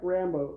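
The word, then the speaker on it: Rambeau: Stone's Rambo but whatever her last name is French it's spelled r a m b e a you oh so um both sounds like Rambo though she's not named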